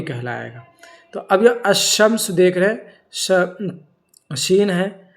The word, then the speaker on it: الشمس: تلفظ بمعنی بولتے وقت، تلفظ کے وقت الف لام کا تلفظ نہیں ہوتا ہے، بلکہ الف لام کے بعد والے حروف پر تشدید ہوتی ہے، جیسے الشمس۔ تلفظ بمعنی جب اس لفظ